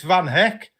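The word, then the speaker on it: Van Hecke: Claire's saying you missed Van Heck rhyming with Peck. Oh, God. and the number 5 strip club was in Vancouver, Well, in Canada. So, oh my God, it's Van Heck.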